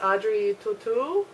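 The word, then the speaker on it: Audrey Tautou: getting closer at it the main actress is Audrey tutu is how it's pronounced she was also in the D Vinci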